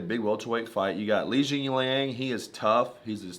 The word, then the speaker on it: Li Jingliang: Li Jingliang.